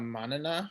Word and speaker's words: manana: i have a question about monona is that how you pronounce it yes uh-huh so as as a